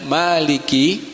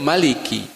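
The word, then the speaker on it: مالك: Nah, para ahli qiraah ini ada yang membacanya maliki, sedangkan ada yang lain membacanya pendek, maliki. Ya, keduanya benar menurut para ahli qiraah dan diriwayatkan secara mutawatir. Memang banyak cara membacanya, tetapi karena kaidah yang kita ikuti di Indonesia adalah kaidah yang biasa membaca dengan panjang, maka kita membacanya dibiasakan dengan membaca apa Pak? Panjang. Maliki, 2 harokat.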